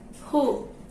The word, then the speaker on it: who: And second one, w not pronounced. That means w silent. Example, who.